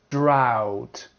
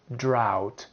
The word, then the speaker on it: drought: Now we have the ow sound. Ow, like in slough, plow, drought, drought.